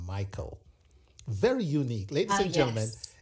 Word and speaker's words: Miqueal: And speaking of your name, Michael, very unique. Ladies and gentlemen, it is spelled Miqueal, but it's pronounced Michael.